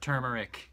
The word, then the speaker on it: turmeric: We need a soap that smells like turmeric and pepper, or turmeric, if you want to pronounce it the correct way, which I don't.